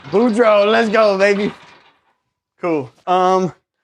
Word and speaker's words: Boudreaux: Again, Boudreau. And that's proper pronunciation. Yep, Boudreau. Boudreau, let's go, baby.